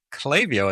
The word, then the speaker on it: Klaviyo: episode and today I have with me from Clavio as I've been told. I always pronounce it Clavia, but that's probably just because I'm here in Europe, but from Clavio we have James Fang.